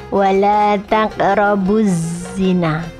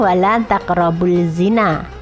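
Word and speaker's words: وَلَا تَقْرَبُوا الزِّنَىٰ: Lam ta'rif bertemu dengan huruf za, maka dimasukkan tidak terbaca. Ini namanya idgham syamsiyah. Maka bacanya wala taqrabuz zina, bukan wala taqrabul zina, tidak terbaca.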